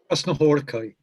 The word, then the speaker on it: Krasznahorkai: How do you pronounce this? Laszlo? Krasznahorkai.